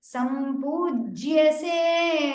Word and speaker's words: सम्पूज्यसे: कृष्णेन सम्पूज्यसे कृष्णेन सम्पूज्यसे Make sure you pronounce the Samyuktakshara with a stress there. Sampujyase, the ich has to be heard.